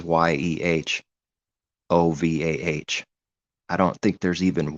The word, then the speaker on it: יהוה: If it's not at the end, it is pronounced, like Yehovah. The H is pronounced because it's not at the end, but there's a H